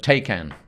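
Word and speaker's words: Taycan: called the taken and that isn't someone struggling to pronounce Liam Neeson's seminal b-movie the take an but not that but take an yeah Porsche taken that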